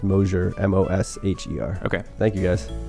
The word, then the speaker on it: Mosher: Looks like Mosher, pronounced Mosher, MOSHER.